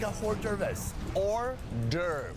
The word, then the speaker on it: hors d'oeuvre: Like a hors d'oeuvres. Hors d'oeuvre. Is it singular? There is an S, but the S is silent. Hors d'oeuvre.